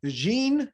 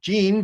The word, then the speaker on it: Jing: great episode we have jean okay so it's pronounced gene but spelled j-i-n-g and she owns a